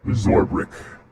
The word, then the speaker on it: Zorbrick: My name, pronounced in common, as I believe everyone nowadays speaks, is Zorbrick.